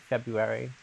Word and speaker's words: February: Such a strange word. February. If there's an R, you're not supposed to pronounce.